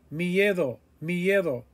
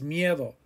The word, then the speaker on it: miedo: hombre hombre hombre scared miedo miedo there's that diphthong again that ie it just runs together it glides miedo nervous nervios nervios nervios